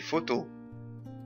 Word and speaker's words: photo: في فير دي فوتو البي اش تنطق زي حرف الفاء في اللغة العربية فنقول دي فوتو on peut aussi on